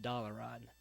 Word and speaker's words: Dalaran: he came up to what's pronounced Dalaran. I have not really heard it pronounced any other way until Trade Chat came up. And that's how she likes to say it, and that's how she says it, and I say it Dalaran.